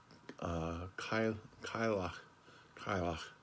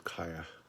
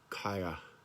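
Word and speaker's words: Cailleach: Some, the popular pronunciations of it are pretty much like Kylach, but the obscure one that both she and I like is Kaya. Listen again. Kaya.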